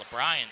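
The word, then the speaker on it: LeBryn: I believe it's actually LeBryan Smith. L-E-B-R-Y-N. LeBryan Smith.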